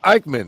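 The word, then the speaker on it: Aichner: yeah Joel dropping some knowledge okay Joel Mr ikeman Right is how you pronounce that I it's it's spelled a i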